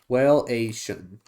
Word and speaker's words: Whaleation: Is it Whaleation? Like nation? Whaleation.